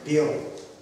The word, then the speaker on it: Перу: Но Маяковский там не бывал, не знал, как она называется, и он всегда дает вот такое ударение. Перу.